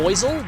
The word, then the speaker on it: Buizel: American, because we call, what Americans pronounce as buoys, we pronounce boy. So, it would be Buizel, which doesn't sound like weasel at all.